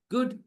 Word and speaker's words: good: Good food. Good food. Look at the phrase good food. That's why English pronunciation is very weird.